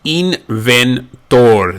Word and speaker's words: inventor: Inventor becomes inventor. The I is pronounced E.